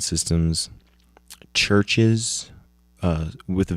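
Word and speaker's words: CHVRCHES: Um, featuring Ella Golding, uh, LCD Sound Systems, Churches, uh, with a V spelled I mean pronounced Chver.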